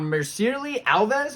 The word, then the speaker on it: Mircea Alves: We have Brett Johns taking on Mircea Alves. I think is how you say that one.